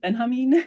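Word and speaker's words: Benjamin: And I and thank you for this uh Walter uh how did you pronounce it again? Benhamin.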